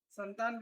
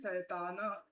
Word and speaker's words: संतान: संतान का मतलब यहां पुत्र या पुत्री नहीं है बच्चा ध्यान रखिएगा ओके संहिता नियम स वर्ण उच्चारणम इति शैताना संताना शैतान गलत उच्चारण कर दिया संताना ठीक है जो संहिता